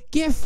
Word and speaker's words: GIF: thing that shows up gif with a hard G wow that really sure